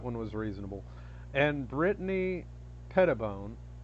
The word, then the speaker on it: Brittany Pettibone: Now, Lauren Southern, I can say that one was reasonable, and Brittany Pettibone. Pettibone? I don't know how to pronounce it. Sorry, Brittany. You said it right the first time.